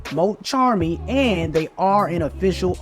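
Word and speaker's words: Mulcharmy: fuas now confirming that the arch type once known as Mo chamy are now pronounced Mo Charmy and they are an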